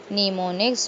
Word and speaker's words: mnemonics: There are a number of strategies for improving memory called mnemonics, pronounced mnemonics to help you improve your memory.